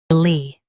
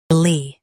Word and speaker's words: leopard: LEOPARD, LEOPARD. Emphasize lep and soften erd. LEOPARD, LEOPARD.